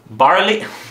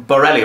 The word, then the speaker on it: Bareilly: month we watched was barley barley key barfy it's carbonized I'll take it barley barley how do you say barelli right barelli not barley noty no it's barley